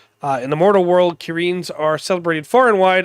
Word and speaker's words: Kirin: in monster hunter really the kirin or kirin depending on how you pronounce it uh but they specifically have it key dash rin so okay you know